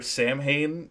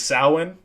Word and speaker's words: Samhain: I'm a much bigger Sam Hain and Danzig fan than I am a Misfits fan at this point.